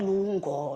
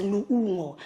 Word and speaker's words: Loungo: So because a lot of people cannot pronounce my name, and I always have to get into the pronunciation, not Lungo, not Lungo, it's Loungo.